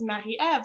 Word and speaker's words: Marie-Eve: peers and you're like no it's mahi ev so a lot of